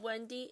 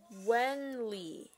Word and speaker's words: Wenly: It's not Wendy, it's Wenly. Wenly.